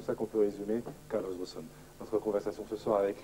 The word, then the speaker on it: Ghosn: Ben, vous savez, d'abord, pour plusieurs raisons, le nom est venu des États-Unis parce que le Ré est très difficile à prononcer et le S est aussi encore plus difficile à prononcer. Donc les Américains ont utilisé le terme Ghosn.